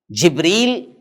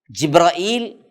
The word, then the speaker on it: جبرائیل: بات یاد رکھ لیجئے، جبرائیل کے کئی تلفظات ہیں، جبریل، جبرائیل۔ اس کے علاوہ مفسرین بتاتے ہیں کہ 10 ایسے تلفظ ہیں جو حضرت جبرائیل کے لیے استعمال ہوتے ہیں، اور جبریل بھی صحیح ہے، جبرائیل بھی صحیح ہے۔